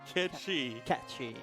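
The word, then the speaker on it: Cait Sith: from cus Kane saying fun fact Kate Sith is pronounced Ki katchi wait no and it's Scottish GIC for Fairy cat hence the GIC cat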